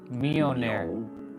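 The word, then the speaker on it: Mjölnir: Simply Mjolnir. Myonair.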